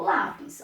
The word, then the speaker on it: lápis: Eu falo lápis ou eu falo lápis? Eu falo lápis. Ó a pronúncia.